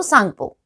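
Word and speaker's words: Tsangpo: एंड वहां ये इसका नाम है सांगपो, या कई बार टी साइलेंट हो तो सांगपो, राइट?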